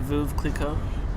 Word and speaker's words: Veuve Clicquot: Veuve Clicquot.